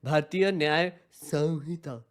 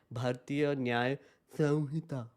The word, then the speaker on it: Bharatiya Nyaya Samhita: Bharatiya Nyaya Samhita. That's how you say it. Chat. Whenever you say the law's name, it is Bharatiya Nyaya Samhita. Samhita.